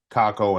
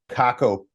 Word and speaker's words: Kakko: I actually think that these types of things will help these players, Kakko and Laugh, long term, because now they're basically